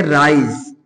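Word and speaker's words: rice: राइस।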